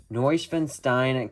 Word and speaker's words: Neuschwanstein: Hello everyone, today we're going to be taking a look at pictures of the newly revealed LEGO Architecture Neuschwanstein Castle, I believe is how you pronounce that, and it will come out on August 1st.